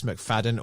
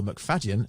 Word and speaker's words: McFadden: dissecting our episode with Jess McFadden or McFadden as it should be pronounced and Chris medland where